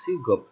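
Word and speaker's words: 직업: যে কোনো একটা ব্যঞ্জন বর্ণ নিচে থাকলে এরপর যদি ইয়ং আসে ব্যঞ্জন বর্ণটা ইয়ং এর জায়গায় চলে যায়, এই জন্য এটা উচ্চারণ হবে সিগপ, সিগপ মানে হলো পেশা।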